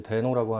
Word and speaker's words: Deno: 대 놓으라고 하는 거구요 그 4 발음을 이제 된 오라고 하는데 노드가 나오고 2009년에 이제 처음 이렇게 딱 나오고 그 다음에 2018년 그 작년이 줘 작년에 똑같은 사람이 이제 자기 덴오 라는 프로젝트를 하겠다 이름은